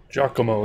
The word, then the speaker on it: Giacomo: Giacomo, that's how you say it.